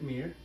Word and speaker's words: Mir: My name is Mir, that's spelled A-T-I-F, and the last name is Mir, M-I-R.